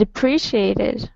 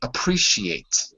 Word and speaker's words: appreciate: Well, I'd appreciate it, right? Mhm. I'd really appreciate it if you could speak to HR. I'd really appreciate it. Say that for me. Appreciate. Appreciate. Appreciate. You're missing a syllable.